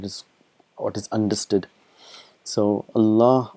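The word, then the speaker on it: الله: It's Allah. It's pronounced as Allah, but it is written as Allah.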